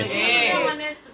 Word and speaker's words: honest: ऑनेस्ट girl. क्या लगाएंगे? ए। फिर से बोलिए, सी इज ए ऑनेस्ट गर्ल बोलिए। बस यही गाड़ी गड़बड़ हो गई, 100% गलत है। क्योंकि सर S साइलेंट होता है।